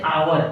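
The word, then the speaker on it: hour: उसको ये देखनी है कि इसको कहते हैं आवर। आवर मतलब घंटा। कितने घंटे पढ़ते हैं। तो घंटा का एक साइलेंट रहती है।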